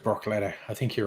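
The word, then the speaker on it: Bruichladdich: bloody well right um you think that distillery is pronounced brock laddie that mate yeah broccoli yeah that that that makes sense that actually makes sense that looks like it should be pronounced brock letter i think you're right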